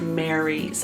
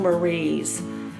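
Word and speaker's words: Maries: mary's i've been saying marie's but there's not an apostrophe s it's just m a r i e s so i think it's just a an unconventional spelling of mary mary's maurice mary's i'm not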